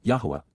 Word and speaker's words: Yahowah: and understanding we now know but W yahwah yahwah the proper pronunciation of the name of eloah God as